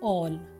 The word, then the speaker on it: all: अगला, जब किसी शब्द में ए के बाद एल आता है तो ए का उच्चारण औ हो जाता है। ALL ऑल सब।